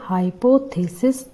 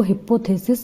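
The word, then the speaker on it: hypothesis: जब यह सिंगुलर है तब हम इसको प्रोनाउंस करेंगे हाइपोथेसिसिस। प्लीज इसको हिपोथेसिस प्रोनाउंस ना करें। इसका सही प्रोनाउंसिएशन होगा हाइपोथेसिस।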